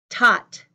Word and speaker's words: taught: for thought thought thought taught my tongue is inside my teeth thought taught again taught